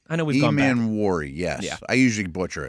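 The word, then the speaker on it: Emanwori: Is that how he pronounces it? I know we've gone back. Emanwuri, yes.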